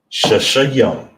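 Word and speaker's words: שישים: Shashayam.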